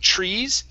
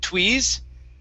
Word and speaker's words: trees: used a U, saying tweeze. Okay, so the trick with the TR, okay, and I'm writing in the Google chat box, the TR sounds like a CHR. So instead of tweeze, it's chur, trees.